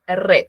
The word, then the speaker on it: read: en pasado cambia bien en pasado la pronunciación es red como el color rojo ya Peter read a very